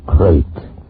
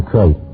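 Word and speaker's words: krait: Tonight, we escape to India, and the story of a man trapped in his bed by a crate, the most deadly, poisonous snake in the world, as Roald Dahl tells it in his terrifying story, Poison.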